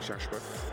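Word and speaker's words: Chahechouhe: That's how you say it in Arabic, Shashwa.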